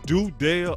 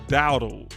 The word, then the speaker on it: Dowdle: Is it Dudale or Doodle? Because it looked like Doodle. That's what it looked like. If I butchered his name, y'all let me know. It's Dowdle. Is it Dowdle?